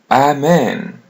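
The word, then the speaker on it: amém: Almost the same pronunciation as in English. Amen. But you're going to pull their e a little bit. Amen. The m is pronounced as n in English.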